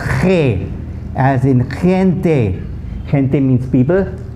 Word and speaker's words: gente: But if a G is followed by an E, the sound completely changes again, just like the C. So GE is pronounced ge, as in gente.